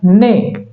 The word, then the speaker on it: neigh: उसी तरह से NEIGH, NEIGH, इसको पढ़ा जाएगा ने।